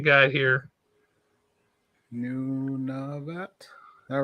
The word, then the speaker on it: Nunavut: Nunavut. All right. I always hated. It's almost like Nineveh from the Bible, but not.